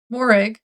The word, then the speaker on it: Morag: Because Willow is a finder of lost things, and Morig, I think is how you say her name, Vane, says that last Tuesday has gone missing. Willow and Morig, Morag, Morag, Morag.